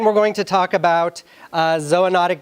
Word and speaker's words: zoonotic: going to talk about ZOA notic disease and yeah that's the right way to say it it's not zoonotic disease how many O's there's two it can't be Zuo notic disease so you could say